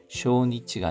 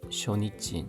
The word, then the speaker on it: 初日: 쇼니치가 아니라 쇼니찌 짧은 발음입니다. 쇼니치 쇼니치와 암에 또 날리마시다가 암에 비가 되었습니다만 도나르 뭐뭐로 되다 후곡과시 주신부노과시 후곡과시부 중심부입니다.